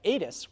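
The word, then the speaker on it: ATIS: comprised of 11 syllables but Edith's which is an abbreviation for automatic terminal information services has only two syllables so you get my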